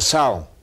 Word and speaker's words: psalm: In English, it's with a P, and they don't even mention the P. And I always say psalm with a P. Psalm, I said it right this time.